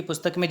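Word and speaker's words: पुस्तकम्: लिखा हुआ होता है ऊपर एक डॉट लिखा होता है और उसे हम अंत में अम पढ़ते हैं, पुस्तकम, गृहम। तो ये जो अम है इसका उच्चारण ऐसे करते हैं, डॉट लगाते हैं और अम।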